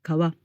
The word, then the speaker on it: kawa: Por cierto, la palabra japonesa kawa, que significa río, se pronuncia así cuando está sola, pero cuando aparece